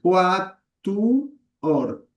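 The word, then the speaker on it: quattuor: Es más fácil y más fiel al latín separar todas las sílabas, porque de hecho estas secuencias de vocales no son diptongos en latín. Quatuor.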